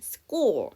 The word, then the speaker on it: school: 그런데 여기 스쿨이란 단어에서 H는 묵음이에요. 자, S 사운드 중에 무성음 C가 나왔잖아요. 그래서 쌍자음, school 이 정도로 봐주시면 되죠.